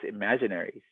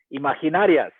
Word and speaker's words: Imaginaries: The title was Imaginaries, right? And the band's name is Quetzal. He said Quetzal, Imaginarias, right?